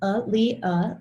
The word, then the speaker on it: Aaliyah: My name is Aaliyah, and it's pronounced Aaliyah, like you see it there.